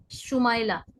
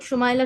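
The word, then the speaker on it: شمائلہ: جیسے ایک نام ہے शुमाइला, तो लोग शुमाइला शुमाइला, वो असल में शमाइला, उसका प्रोनाउंसिएशन जो है शमाइला है, उसके आगे पीछे जोड़कर भी नाम रखा जा सकता है।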